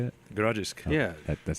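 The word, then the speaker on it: Grodziskie: Grodzisk.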